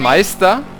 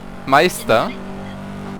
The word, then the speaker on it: Meister: It's the Meister. Meister. It's like I.